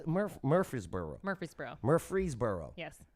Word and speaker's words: Murfreesboro: do you say Murfreesboro Murfreesboro Murfreesboro yes but everyone leaves out the other r yes it's like February it kind of right